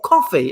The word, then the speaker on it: Ko-fi: the screen here that's how cool feeling or coffee if you're pronouncing it correctly on there you can donate